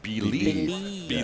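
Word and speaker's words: Bleav: So it's spelled B-L-E-A-V, right? Yes. But it's pronounced believe. Because it is believe.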